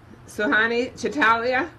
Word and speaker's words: Suhani Chitalia: Suhani Chitalia? Good morning, present. Okay, did I pronounce it correctly?